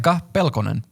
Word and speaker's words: Pekka Pelkonen: I was going to ask you to pronounce that because I figured I'd be saying it wrong. Pekka Pelkonen.